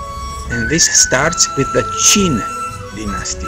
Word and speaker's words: Qin: a united country and this starts with the Qin Dynasty spelled with true it gave the name to China